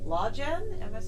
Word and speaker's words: Lawgen: been hearing about this law Jen right oh yeah that's how it's pronounced it's actually spelled LA WGN like Law Genesis the idea is that